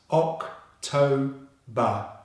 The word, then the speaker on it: October: The second syllable, which is the stressed syllable, starts with a strong T consonant sound, followed by the O vowel diphthong sound as in no. So that should be toe, toe. And the final syllable is the same as in September. It's the B consonant sound and the schwa, ba. So together that's October, October, October.